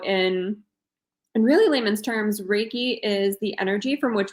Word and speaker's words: Reiki: you explain what raiky raiki wait say it again I keep saying it wrong raiki so it's like a sun and a door key raiki raiki gotcha so can